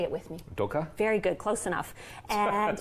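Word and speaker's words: dukkah: And then on top, I love to sprinkle something called dukkha. Say it with me. Dukkha?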